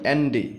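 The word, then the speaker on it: Andy: বলছে hello এন্ডি এ এন ডি ওয়াই এন্ডি এটার উচ্চারণ হচ্ছে এন্ডি হ্যালো এন্ডি হ্যালো শব্দের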